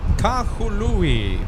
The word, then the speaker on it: Kahului: I mean, that's just Kahului. That's how viewers are saying. That's how M says Kahului. Kahalui.